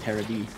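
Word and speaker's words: テレビ: And yet, television is still pronounced Terra-B over there.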